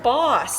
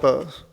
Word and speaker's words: Bose: That's not Bose. Yeah, that's Boss. No, it's pronounced Bose.